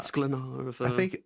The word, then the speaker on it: Sklenar: Sklenar. I don't know if that rhymes with splainer or something, or no. Sklenar.